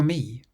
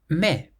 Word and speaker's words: mais: Me. It means boot. Me. Now, this word is spelled M A I S. But you pronounce it me.